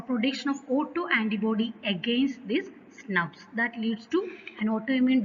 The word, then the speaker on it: snRNP: Often we can pronounce it as SNRPs.